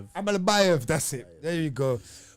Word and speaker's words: Almabayev: Almabayev.